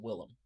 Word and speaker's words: Willem: really made me want to see it was William Dafoe I love Willem Dafoe I said his name wrong but Willem Willem Dafoe is a great actor um everything